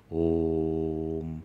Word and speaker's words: om: the alphabet dag lii om is different from all and om actually has three syllables a u m but it is written